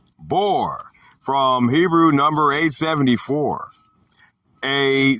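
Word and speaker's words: בור: Okay, 877, the Hebrew word is bor, pronounced bor, from Hebrew number 874.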